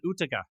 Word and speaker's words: Utica: Is that how you pronounce it? Utica.